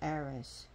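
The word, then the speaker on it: Ares: of the stories bathed and dresses her brother Aris Aries let's pronounce Aris so things about this goddess she her her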